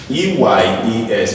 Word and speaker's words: eyes: You think it's pronounced or you think it's S. So let's look at a few of them. EYES, for example, is called eyes.